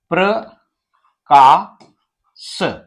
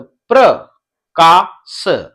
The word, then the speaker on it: प्रकाश: एक शब्द है प्रकाश। तो इस प्रकार से आप देखें, यहां पर प के बाद में र, तो प्रकाश, तो इस प्रकार से ये प्रकाश।